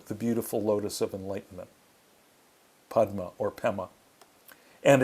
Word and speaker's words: padma: uh in tibetan uh the tibetan pronunciation of of the sanskrit the tibeto sanskrit they say padma becomes pema so this is lotus